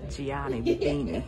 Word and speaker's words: Gianni Bernini: Oh, I said it wrong. It's Gianni Bernini, cousins.